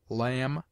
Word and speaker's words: lamb: obtains in other languages it is mute in debt debter subtle doubt lamb limb Dum thumb climb comb womb it is used before